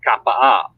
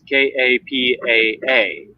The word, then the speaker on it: Kapaa: Um, like the one beach that I love going to is Kapaa, and it's Kapaa, but it's not Kapa, it's Kapaa.